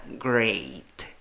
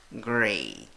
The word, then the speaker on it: great: La A con sombrero se pronuncia E. ¿Cómo pronuncias esta palabra? Great. Great.